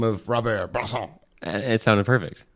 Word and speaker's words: Bresson: Robert Bresson. Robert Bresson. Bresson. Bresson. You gotta cut it off. They like cutting off those ends.